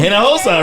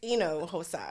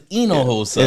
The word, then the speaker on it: Hinojosa: Hosa. Right. Let's just The H is silent but not. Is it silent? How do you Actually, it's enoa.